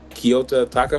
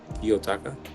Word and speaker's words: Kiyotaka: He's Kyoto Taka from Classroom of the Elite. Kanojikin. I don't know how to say his name. Kyoto who? Kiyotaka.